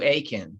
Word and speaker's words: Eakin: virtual event with aiken oh i meant to ask how the correct way to pronounce your last name i think you said it right it's aiken so bacon okay thank you the country